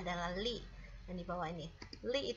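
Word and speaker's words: 力: Ini bacanya adalah li, yang di bawah ini li itu artinya adalah tenaga.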